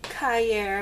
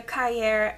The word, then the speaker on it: Cahier: So this was amazing, because this took over for my Moleskine large, and this is actually a Moleskine Cahier, I believe is how you say it, and I had cut them down.